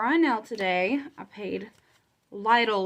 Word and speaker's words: Lidl: um paid or I know today I paid Lidl loans that's how you pronounce it I always say little but it's little loans still need to pay